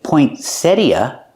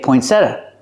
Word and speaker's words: poinsettia: It's called a poinsettia, but it has two pronunciations. Sometimes people say poinsettia, and sometimes people say poinsettia. What about the T? You don't have to pronounce it. You can if you want. You can say poinsettia or poinsettia or poinsettia.